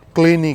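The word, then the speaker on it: Llanelli: और लनीली नाम इसका लनीली है, बट वेल्स लैंग्वेज में इसे क्लीनी कहते हैं। इसका प्रोनाउंसिएशन क्लीनी है।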